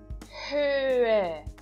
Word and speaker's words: Höhe: Próximo exemplo, Höhe. Höhe. Então, verifiquem agora que eu estou pronunciando o H da primeira sílaba e não estou pronunciando o H da segunda sílaba.